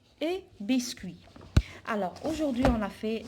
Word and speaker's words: biscuit: à huit numéros 8 biscuits à un biscuit donc je prononce pas la lettre t alors alors ici on